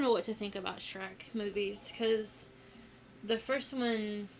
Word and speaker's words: Shrek: it looked like Sheek I have pronounced it Sheek ever since because it was dery she I don't know what to think about Shrek movies cuz the first